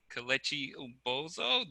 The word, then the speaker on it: Kelechi Ubozoh: So next up we have Kelechi Ubozoh. Did I say it right?